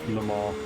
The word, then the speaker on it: Le Mans: You're all saying it wrong, by the way. It's a multi-class sports car championship across the French Sector 2 countryside. is 0.6 off the pace. No. Le Mans.